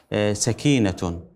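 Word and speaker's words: سَكينة: السيده النبيله ما يعني ذكر اهل اللغه انه تلفظ بفتح السين وليس بضم السين انما هي سكينه بمعنى السكن بمعنى الهدوء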